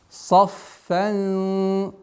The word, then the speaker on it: صَفًّا: здесь обращайте внимание, будьте добры, сад твердый, фа мягкая, но ихфа сокрытие твердое. Получается у нас мягкое, твердое, мягкое, твердое сокрытие. Саффан, саффа, саффан, саффа, саффа. Произносим, удваиваем, огласовкой фатха произносим. А потом у нас сокрытие в размере двух огласовок назализации твердое.